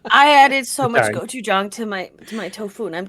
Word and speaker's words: gochujang: gochujang to my tofu, and I'm dying. Gochujang. Fun fact for the audience. Gochujang rhymes with "go you dong."